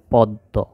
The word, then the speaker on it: পদ্ম: আমরা এই বর্ণটি, এই শব্দটি উচ্চারণ করি, এখানে কি উচ্চারণ হয়, যেমন প দয় জ, তাহলে উচ্চারণ হবে পদ্ম।